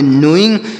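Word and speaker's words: knowing: तो इसे क्या पढ़ेंगे यहां पर भी के का उच्चारण नहीं होगा एन ओ से पढ़ेंगे नो और डब्लू ई से पढ़ेंगे ई और एन से पढ़ेंगे न जी से ग तो से पढ़ेंगे नोइंग नोइंग मतलब क्या होता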